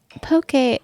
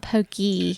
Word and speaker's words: poke: Poke bowl. Poke bowl. Okay, so it's not pokey.